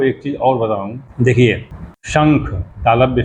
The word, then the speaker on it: शंख: फिर ख होता है, तो उसको पढ़ते हैं शंख, यानी श, और उसके बिंदी को क्या कहते हैं, कैसे उच्चारण करते हैं, कैसे प्रोनाउंसिएट करते हैं? शंख, शंखंग, शंख हो जाता है।